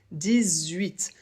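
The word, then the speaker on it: dix-huit: la barre de description 18 ici le 10 doit être prononcé avec un peu comme un Z 18 pourquoi parce que 8 commence par un H mais la première lettre qu'on va prononcer puisqu'on ne prononce pas les h en français ça sera le U 18 pour la liaison c'est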